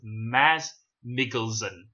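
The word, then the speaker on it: Mads Mikkelsen: She's the daughter of Galen Erso, played by, apparently it's pronounced like this, Maz Mikkelsen.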